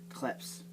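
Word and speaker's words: Krebs: The word the letter B in there kind of sounds like a P. Kleps.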